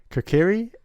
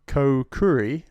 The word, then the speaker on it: Kokiri: Kokiri. I pronounce it Kokuri, like potpourri.